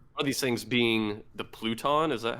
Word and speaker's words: Pluton: talk about it are these things being the pluton is that how you pronounce it yeah yeah which is like an